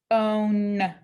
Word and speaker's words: phone: look at this one we have silent e at the end so that means the o is going to be long it's going to say its name so we put a macron above this is phone phone on this word